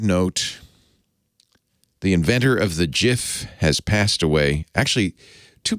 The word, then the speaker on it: GIF: was his acceptance speech it's pronounced jif not gif so in honor of